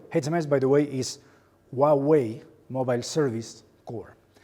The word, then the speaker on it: Huawei: How to pronounce the name of our company properly? Some people call us Hawaii. This is lovely, but that's kind of an island. We are pronounced Huawei. As easy as that, Huawei, okay?